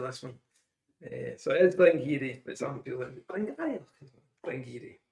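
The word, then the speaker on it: Glen Garioch: This is a huge talking point in the pronunciation of this one. So it is Glengeary, but some people are Glengeary.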